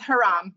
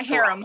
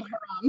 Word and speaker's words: haram: Close, it's haram, not harem, haram.